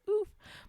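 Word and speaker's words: ouf: It literally says oof, but they spell it like this. I'll put it in the chat. They spell it O-U-F. Oof. I'll demand that we say oof that way now.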